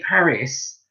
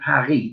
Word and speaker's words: Paris: lived in paris in france when we say paris but they say paris they don't pronounce the self at the end of paris